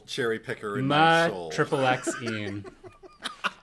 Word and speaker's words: MaXXXine: Also, I agree with Eddie that you pronounce each X separately and don't use the triple in there when saying MaXXXine.